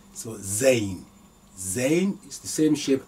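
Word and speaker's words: زاي: same same simple Gazette in the sound so Zane Zen is the same shape as Rodney to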